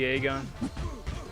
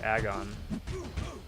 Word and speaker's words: Aegon: Aegon. I like how the community just came together and decided his name was to be pronounced Aegon as opposed to Agon.